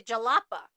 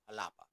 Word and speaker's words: Jalapa: they were going to jalapa so we were saying the J in English however this is a capital city in Mexico so it's pronounced like an H so alapa yeah what ended up